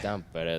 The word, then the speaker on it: Tampere: Tampere.